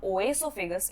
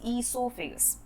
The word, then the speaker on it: esophagus: And do not forget to pronounce it as esophagus because it is not oesophagus, it is esophagus.